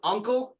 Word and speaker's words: UNKLE: The band is Uncle, it's UNKLE, it's called Science Fiction, but science is spelled very wrong.